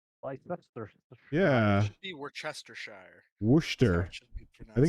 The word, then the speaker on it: Worcestershire: Here in America, we call it wash your sister sauce.